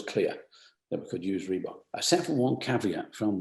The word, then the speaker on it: Reebok: there to get to REEBOK. Reebok. What's that? Reebok. Oh, it's a small South African gazelle. Wow. Why don't we put that top of the list? Reebok. 2 syllables. Sounds good.